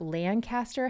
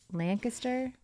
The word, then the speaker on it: Lancaster: grows up in and I know it's not Lancaster how do you say it Lancaster Lancaster Lancaster it's strange that you don't pronounce it how would you not Lancaster Lancaster